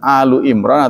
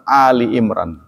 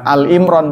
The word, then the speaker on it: Alu Imran: Jadi membacanya yang benar itu Alu Imran atau Ali Imran. Bukan Al Imran, bukan.